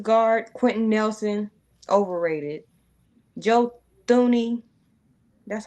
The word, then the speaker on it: Thuney: Joe Thuney, that's how you pronounce that? I think he pronounces it Tooney. I think the H is like silent.